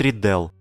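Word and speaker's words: Riddell: в закрепленном комментарии этого прогноза на youtube бред riedel именно ударение нарядил представитель новой зеландии свои 30 лет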